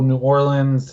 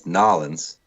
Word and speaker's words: New Orleans: take the over Adam you guys are pronouncing it all wrong it's nollans and Island Mullins was